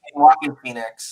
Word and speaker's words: Joaquin Phoenix: I know how to pronounce his name, but he's Joaquin Phoenix.